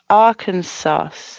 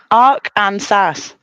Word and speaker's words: Arkansas: you don't have to say but yeah AR Arkansas AR Arkansas with a w that says Arc and SAS yeah I think it's for I could be